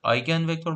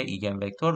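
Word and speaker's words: eigenvector: میگیم ایگن ولیو یا حالا تلفظ درستش آیگن وکتور و آیگن ولی منتها فارس فارس فارسی لایز همون فارسی طورش میشه ایگن وکتور و ایگ ولی اصلش آیگن خب ماتریس کوواریانس ما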